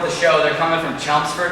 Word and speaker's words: Chelmsford: They're coming from Chelmsford, Mass, or as the locals say, Chelmsford.